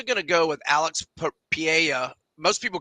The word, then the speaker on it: Pereira: to go with Alex Pia most people call him Pereira but the r is not pronounced in Portuguese um whoa interesting John